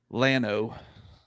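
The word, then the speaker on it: Llano: they they went to Lano which always pains me to say but that's how you say it so they went to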